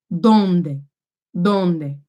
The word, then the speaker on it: dónde: accent mark right so I need to stress that Oh donde donde big domed not donde donde they don't day and